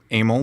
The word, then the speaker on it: Emil: The studio, Amel. So it's just like Emily, but without the Y. So Amel is, some people pronounce it that way.